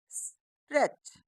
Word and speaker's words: stretch: दोस्तों इसमें ये जो दूसरा वाला टी है ये साइलेंट है, तो हम इसको क्या पढ़ेंगे? स्ट्रेच और सी एच को हमें चा पढ़ना होता है। तो ये क्या बन गया? स्ट्रेच।